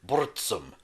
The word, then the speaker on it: Burzum: with his one-man band, Burzum, or as he pronounced it, Burzum.